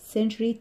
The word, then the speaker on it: century: ال century، century تي واليو بتتنطق زي صوت الشين كده خفيف، decade، month، week، week